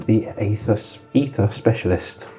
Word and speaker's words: Aether: Um this subclass is called the Aether ether specialist. The A is silent.